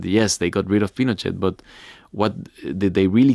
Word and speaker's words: Pinochet: Before we go any further, and to save me any further embarrassment, I have always said Pinochet, and you're saying Pinochet.